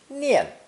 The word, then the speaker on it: 念: It's pronounced 4th tone, nian, nian.